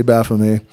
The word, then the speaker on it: Baphomet: For Baphomet should be spelt with a T at the end. Thus, it is very clearly a corruption. Shouldn't be spelt with a T at the end. That's why I say Baphomet.